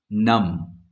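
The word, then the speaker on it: numb: तो T silent है नम एम और बी एक साथ है हम नम पर ही रुक जाते हैं बी तक पहुंचते ही नहीं है जिस टाइम पर हम बोलते हैं यानी कि बी साइलेंट है नम डाउट डाउट में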